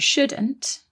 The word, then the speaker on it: should: one more thing about shouldn't and should is that they contain another silent letter don't they there is a silent l in there s o u l d should that's right we've got